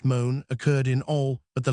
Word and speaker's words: Mont: Montenegro soon appeared and then it struck me that the syllable Mont pronounced moan occurred in all but the last of the substitutive names.